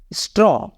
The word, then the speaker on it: straw: तो यहाँ पे ए के बाद डब्लू है, मीन्स डब्लू के पहले ए है, तो यहाँ पे ए का साउंड छिप जाएंगे, यहाँ पे हो जाएगा स्ट्रॉ, स्ट्रॉ।